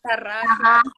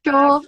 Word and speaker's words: Tarraxo: And Tarraxo, Tarraxa, Tarraxo. Tarraxo, like you want, like you want.